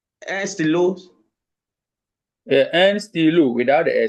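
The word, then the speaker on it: stylos: So the S is silent. So we still say de stilo, but not de stilos.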